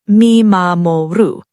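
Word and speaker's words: 見守る: The first concept you need to understand is called mimamoru, pronounced mee-ma-mo-roo.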